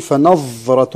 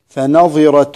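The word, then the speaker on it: فنظرة: كلمة فناظرة، بعض الناس يقول فناظرة ويسكن الظاء والظاء مكسورة، فناظرة إلى ميسرة، سورة البقرة.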